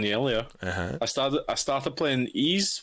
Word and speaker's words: Ys: Ease. It's spelled YS.